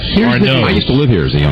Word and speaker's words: Arnaud's: What's the pronunciation? Arnaud's.